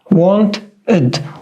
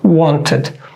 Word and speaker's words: wanted: Now, the only case when we say it like ed is after d or t. Just in these 2 cases, we say it like full ed. For example, decided, decided, wanted, wanted. All right, so be careful,